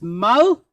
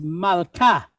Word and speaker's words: malka: So we pronounce this mal, and we cut the sentence off. Mal. Then we have a kaf, and it's pointed kamathe, ka. So the word is malka, which means a queen.